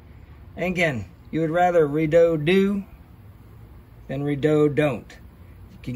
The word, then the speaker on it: Redodo: rather redo do than redo don't all right I did my research redoo red Odo however you want to pronounce pronounce it I pronounce it redo do because you want to